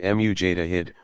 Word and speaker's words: mujtahid: erudition earning the title which Tawhid pronounced mu Jada hid one who exercises independent